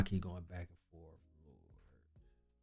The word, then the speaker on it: Lorde: In British English, it is said as Lord. Lord. In American English, it is usually said as Lord. Lord. I did listen to all that just to hear Lord.